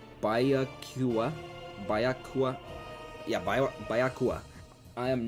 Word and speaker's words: Byakuya: I don't know how to pronounce it properly. It's Byakuya.